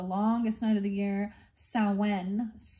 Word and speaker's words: Samhain: The ancient Celts used to call this time of the longest night of the year Samhain. Samhain.